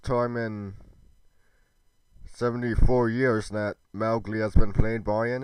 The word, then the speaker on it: Mowgli: It's pronounced Mowgli. It's supposed to rhyme with cow.